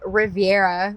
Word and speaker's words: Reverya: I am back with the drummer of Riviera. Re Oh my god, I said it wrong. I got it right the first time. Riveria.